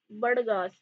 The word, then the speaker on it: बड़गा: ठीक है, ये बड़गा ट्राइब होती है, हिंदी वर्ड है बड़गा. ठीक है, ये वर्ड पढ़ रहे हैं तो बड़गा जो ट्राइब है, हिंदी वर्ड बड़गा है, स्पेलिंग में हम ऐसे लिखते हैं बड़गास.